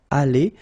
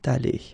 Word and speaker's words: allée: Okay, so elle serait allée, okay? But then phonetically it doesn't exist, all right? So it's allée here and then allée here, the way you pronounce it.